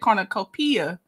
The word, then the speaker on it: cornucopia: You almost had it. You just put an emphasis on the P. You said cornucopia, so you still were pronouncing it. You just put an emphasis on the wrong syllable.